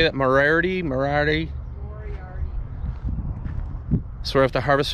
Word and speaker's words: Moriarty: Moriarty.